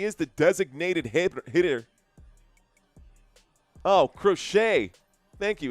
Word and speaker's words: Crochet: Oh, crochet. Thank you. It's pronounced like sewing. Thank you, Scott Wheeler. We've got Garrett Crochet up to bat and Scott Wheeler for the win.